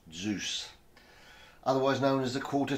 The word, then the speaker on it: DZUS: In this little film, I'm going to try to unravel the mystery of the DZUS fastener, spelt DZUS, pronounced Zeus, otherwise known as the quarter turn fastener.